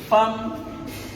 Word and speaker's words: femme: Femme qui s'écrit F-E-2-L-E, qu'on ne dit pas femme ou femme. On aurait pu écrire avec A.